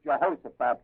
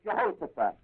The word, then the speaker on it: Jehoshaphat: I'll set the kings for you so that you understand who this Jehoshaphat fellow is in here.